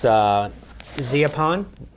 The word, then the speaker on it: Zeapon: Another new addition to my arsenal recently is this Zeapon, that's how you say it, slider.